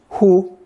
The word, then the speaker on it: 呼: Pronounced hu, hu. With the mouth radical added, it's also pronounced hu, but has expanded to mean breathe out.